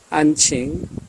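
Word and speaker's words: 安庆: 안칭 우리식 발음으로는 안경시입니다.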